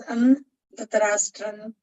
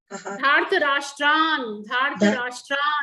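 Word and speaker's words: धार्तराष्ट्रान्: Dhartarashtan, you don't pronounce Dhartarashtan. Dhartarashtran. Dhartarashtan. No. Yeah. Dhartarashtran.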